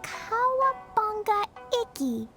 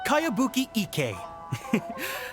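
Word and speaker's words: Kayabuki Ikkei: By Kawabunga Iki. Yoimiya, this is a really strange name. Who's this Kawabunga? It's pronounced Kayabuki Ike.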